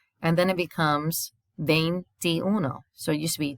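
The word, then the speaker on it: veintiuno: twenties the vein this if you notice the first four letters spell vein like the vein in your arm which is also how you say it vein and then it becomes vein ti uno so it used to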